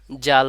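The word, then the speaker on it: ذال: বারবার এভাবে বলতে হবে জিহ্বার আগা উপরের দুই দাঁতের আগার সঙ্গে লাগাইয়া জাল উচ্চারণ হয় এখন আমরা পরের হরফটি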